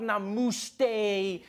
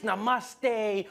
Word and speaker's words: namaste: like dude it's not namooste it's namaste who messes up namaste it says in a moose day but to those indians